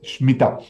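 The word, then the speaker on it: Shmita: La E no se pronuncia. Es Shemitah. Es sin E.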